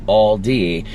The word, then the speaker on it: Aldi: Okay, regarding the Aldi question, did you know it's a German chain? I pronounce it like Aldi when I'm speaking English, but I guess it sounds a bit more like Aldi in German.